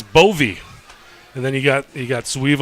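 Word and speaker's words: Bowe: What's the heritage of a B-O-W-E being pronounced Bovey and a Sweevelover?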